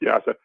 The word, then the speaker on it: Jasa: Carson Jasa. Yeah, pronounced Yasa.